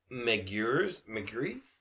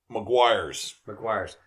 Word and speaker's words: McGuire's: McGree's? How do you say that? McGuire's.